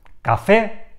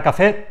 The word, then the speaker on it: café: en s por ejemplo café cajón anís la palabra café tiene el golpe de voz en la última sílaba por tanto es una palabra aguda termina en vocal